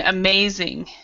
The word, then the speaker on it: amazing: So you would have to actually say the Z sound. Z. So there's a Z sound with your tongue.